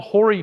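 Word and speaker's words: hoary: name that sounds naughty they're called Hy peas but it's spelled h o a r y which means like hairy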